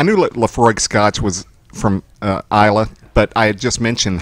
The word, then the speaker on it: Islay: So he pipes on there that it's from Isla, which is spelled Islay.